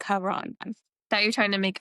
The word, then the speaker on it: Charon: But how is it? Care on. Charon. Okay. See, I was saying Charon.